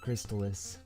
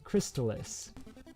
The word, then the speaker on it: Crystalis: anyway so jetty yes how do you pronounce the video game crystalis now have you always pronounced it like that i have always pronounced it crystallus um but i know i am uh in the minority i believe and just i wonder